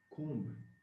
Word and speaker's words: comb: Comb, the B is silent.